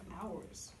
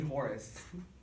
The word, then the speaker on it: Horus: Anyway, also the Eye of Hours. You mean Horus? I mispronounced that. The Eye of Horus.